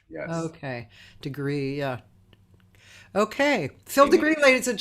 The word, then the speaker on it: deGruy: but actually degree oh it is phil degree and one way to remember is phil degrigri is that like a french pronunciation yes okay degree yeah okay phil degree ladies and gentlemen my